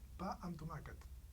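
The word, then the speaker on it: pa amb tomàquet: Pa and tomacat.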